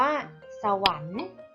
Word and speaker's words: สวรรค์: อ่าน ว่า ชัก กัน สวรรค์ อ่าน ว่า สวรรค์ ตั้ง ครรภ์ อ่าน ว่า ตั้ง ครรภ์ ตัว การันต์ เรา ไม่ ออก เสียง นะ คะ จะ เป็น ตัว สะกด แม่ กน แทน ค่ะ อ่าน ทำ